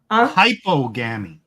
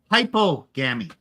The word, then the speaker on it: hypogamy: Hypogamy. Notice the difference. One is HYPER, and this is HYPO. So it's a different suffix, which is the opposite. Okay. So how do you say it again? Hypogamy.